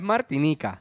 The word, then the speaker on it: Martinique: Aprende a decirlo, Martinique. Martinique. No, aprender tú a decirlo, es Martinica. Te lo Google. Se escribe Martinique, pero se dice Martinica.